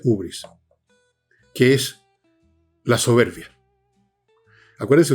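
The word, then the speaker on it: hybris: Otros dicen ibris. No me acuerdo bien de cuál de las dos maneras. Creo que es ubris. Ubris, pero se escribe con y, así que, pero se pronuncia ubris, que es la soberbia.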